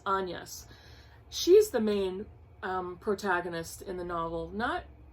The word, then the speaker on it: Agnes: and in the book her name is pronounced Agnes.